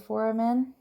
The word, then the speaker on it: foramen: The supraorbital foramen is right above the eye, right here. And the mental foramen is, I know I just pronounced it wrong before, but that is pronouncing it right now, is this little guy right in here.